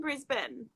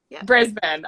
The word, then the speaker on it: Brisbane: says um what part of australia i'm from brisbane bruce okay i was gonna pronounce brisbane so i'm really glad they're not